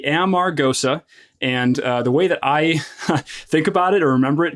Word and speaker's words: Amargosa: living and I I hear this the Val pronounced all different kinds of ways but uh it is the it's the Amar goosa and the way that